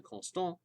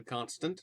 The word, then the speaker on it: Constant: a Swiss philosopher named Benjamin conon or Benjamin constant is how it's spelled um in English uh who